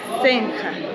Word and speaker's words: Senra: Es una personalidad, digamos, se llama Capitán Senja. En realidad se escribe Capitán Senra en español y acá lo llaman Capitán Senja.